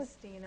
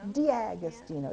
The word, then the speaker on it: D'Agostino: Did I pronounce it correctly? D'Agostino. D'Agostino.